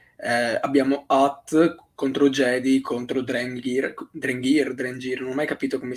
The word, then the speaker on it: Drengir: Io dico Drengir, Ah, ok, con, o con io la G, Drengir. con la Boh. G dura e l'accento su l'accento sulla E.